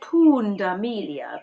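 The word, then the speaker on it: punda milia: right for a leopard pooned Emilia zebra sounds like porn Amelia Punda means donkey and amelia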